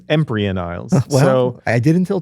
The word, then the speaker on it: Empyrean: think next up is the title imperion Isles Eman Isles and Peter says empan ises so I did